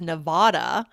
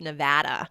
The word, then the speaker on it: Nevada: like, for example, people from the East Coast pronounce Jessica's home state as Nevada, but it's actually supposed to be pronounced Nevada.